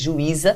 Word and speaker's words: juíza: Juiz não tem acento, mas juíza tem. Ah lá, do masculino para o feminino deu uma diferença de pronúncia. Em juiz, você tem o I seguido do Z, ele não está sozinho na sílaba tônica.